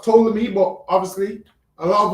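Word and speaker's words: Ptolemy: I'm sure poll's name see so it's it's pronounced tolamy but obviously a lot of us say poleami.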